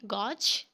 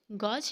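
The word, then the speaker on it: gauge: गॉज। इसकी right pronunciation गॉज है? नो, it's right pronunciation is गेज। What is गेज?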